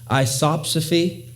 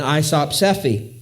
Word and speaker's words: isopsephy: isopsephy now i know if you look at that word on a page it looks like it should be pronounced isopsy and i think that